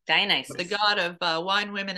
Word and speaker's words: Dionysus: which is your label, and I'm going to try and say it, Dionysus. I fucked it up again. Try again. Dionysus. Dionysus.